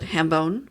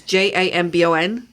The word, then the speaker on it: jambon: So then they have a dish called hambone, which I don't know if that's how they say it. It's Jambon. Jambon.